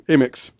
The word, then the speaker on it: Amyx: Jeff Amix. It's funny that rhymes with anus. What's funny is AMYX is his last name, Amix. He's the proprietor of Amex Hardware in Washburn, Tennessee.